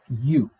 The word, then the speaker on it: Yu: We will get our first dynastic leader with the legendary king U spelled YU.